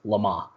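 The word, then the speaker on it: Le Mans: it's called LeMond right it's a French word pronounced llama it spelled le2 where it's le space ma in s so I believe in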